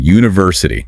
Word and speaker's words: university: Those ending in in Asia like university. The stress tends to land on the third syllable from the end. Third from the end. University.